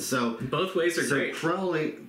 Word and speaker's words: Crowley: TV shows and stuff, they all say Crowley, and but if you go back to how Crowley wrote about himself, he jokes that it's Crowley, it rhymes with holy, but of course he was not anything but.